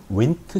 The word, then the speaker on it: Wnt: 이번엔 역시 발생 과정에서 중요한 윈트 신호 전달, WNT라고 쓰고, 운트도 아닌 문트도 아닌 윈트라고 읽어요. 윈트.